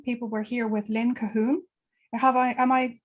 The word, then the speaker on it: Cahoon: joining us today people we're here with lynne cahoon am i pronouncing your surname correct it is yes perfect